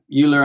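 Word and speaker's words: Euler: just use straightforward forward uh ular angles or Oiler angles as some people pronounce it and um you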